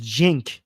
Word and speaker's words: Cenk: Okay, we got another super chat by what is I I wish I could read your name saying C in Turkish is pronounced like J. His name is Jin.